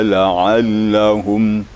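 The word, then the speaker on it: لعلهم: Min qablika la'allahum. La'allahumnya juga kurang maksimal bunyinya tadi. Jadi ada penekanan juga. Dia setiap ada tanda tasydid, ada penekanan suara sedikit. La'allahum gitu. Jadi kalau kurang penekanan dia akan seperti biasa bunyinya tanpa tasydid bunyinya.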